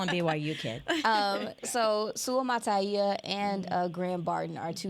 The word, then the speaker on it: Suamataia: Suamataia. There we go. I didn't want to get it wrong The today. BYU kid. The There we go. BYU kid. We just call him BYU kid. So Suamataia and Graham Barton are two names that I